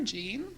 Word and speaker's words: Jeanne: even own a car Gene Gene since I've dropped the IE and my name has only one syllable now so I explained